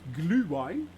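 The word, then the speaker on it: Glühwein: it off Swiss drink gluevine that's how you actually pronounce it glue wine at Christmas markets uh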